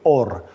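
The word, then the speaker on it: אור: palabra luz se acuerdan Cómo se dice en hebreo or No es cierto es una o y una r se lee or No es cierto y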